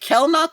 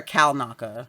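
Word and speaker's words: Kelnacca: Yeah, I thought they did a good job with is it Kelnaka or Kalnaka? Kalnaka. Yes, Kalnaka. It's spelled like Kel, but I think it's Cal.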